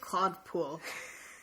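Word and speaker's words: Claude Puel: Uh, so Southampton Claw Po. Can you can you pronounce that? Sorry, it's French, so I'll let you. It's just Claude Pool.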